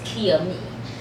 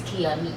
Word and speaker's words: Kiami: pronounce it correctly it's Kia me it's Kia and Amy put together and it's Kia me and is my